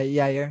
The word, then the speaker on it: Yair: I don't know how to pronounce this guy's name. Yair Rodriguez. Yeah, Yair.